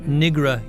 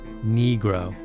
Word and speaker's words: Negro: Not Nigra, Your Honor, Negro.